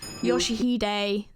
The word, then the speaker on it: Yoshihide: No, that's not how you read those letters. Yoshihide. That's how you say it.